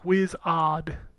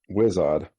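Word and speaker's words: Wizodd: week wizard but it was odd how is this spelled w-i-z-o-d-d whiz odd whizz-odd gotcha yeah i just have to say i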